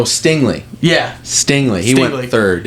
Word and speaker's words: Stingley: was a walker Hutchinson sing or stingle however say his name is oh Stingley yeah Stingley he went